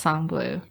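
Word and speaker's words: Sang Bleu: blue I think anything it's pronounced song blue so I'm not gonna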